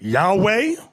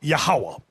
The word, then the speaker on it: Yahawah: Now, depending on your form of Hebrew, you have some people pronounce it Yahweh. Another group pronounce it Yahuwah. We were taught Yahawah.